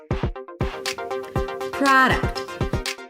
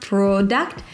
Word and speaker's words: product: product. The primary stress is on the first syllable pra. There is no O, so it's not product, but an open a sound.